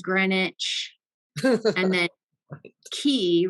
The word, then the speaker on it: Greenwich: So there's been an ongoing theme on this trip about how you pronounce things here versus how they're spelled. Because like Greenwich is Greenwich.